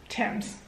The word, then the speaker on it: Thames: Is that how it's said? Thames? Thames. Sorry, England. Thames. All right, according to this, it says Thames.